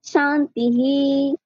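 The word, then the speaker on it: শান্তিঃ: হ হ্যাঁ তো ওইর শিকারটা হর সাথে যুক্ত হয়ে যাবে তাহলে হয়ে যাবে শান্তিহি হ্যা তাইলে ঠিক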